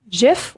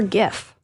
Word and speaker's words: GIF: Kim, do you say GIF or GIF?